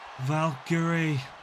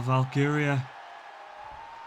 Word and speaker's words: Valkyria: Valkyrie. Well, Valkyria, the better pronounce it.